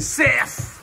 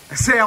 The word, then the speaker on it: cerf: fort dans tes bras ser moi fort dans tes bras nous plaisantin mais on on on ça s'écrit C r e r f mais on dit ser on dit pas serf CRÉO ça mais CRÉO